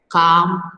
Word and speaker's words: calm: L is silent.